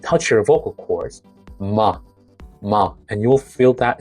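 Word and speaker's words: 마: Well, bring your lips together gently and let the sound pass through your nose while your lips stay closed. Your your vocal cord should vibrate in like in other terms is voiced. It should be nasal and bilabial and voiced.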